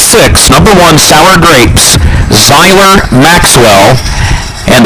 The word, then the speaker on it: Zyler: number one sour grapes zyler Maxwell and that first name is spelled z y l e r like Tyler except it's spelled with a z zyler Maxwell on the